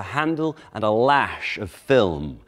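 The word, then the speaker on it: philome: And the whip has a handle and a lash of film. And that word film is spelled P-H-I-L-O-M-E. Film. Or possibly filme. Probably film.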